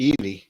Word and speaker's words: Ely: But last week I went to Ely and I got chips there for £2.50.